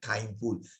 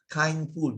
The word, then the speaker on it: kindful: Kindful. It was coined by one very well-known monk, Ajahn Brahm, right? Because he wants it maybe to rhyme with mindful also. Kindful.